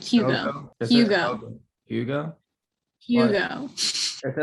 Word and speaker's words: Jugo: Jogo. It's more like Hugo, like with an H-ish. It's like Hugo.